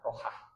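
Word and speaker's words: راحة: Tapi ya Allah, sebelum ini urutan doanya, sebelum minta kematian sebagai rehat itu dari bahasa Arab ya, rohat, jadi rehat. Orang nggak bacanya rehat, redaksi aslinya rohat.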